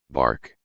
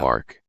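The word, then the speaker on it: Barq: It's called B A R Q. Bark. There we go. Bark.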